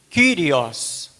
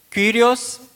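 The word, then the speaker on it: Κύριος: No grego, Kyrios. Esse Y no grego é igual o U no francês.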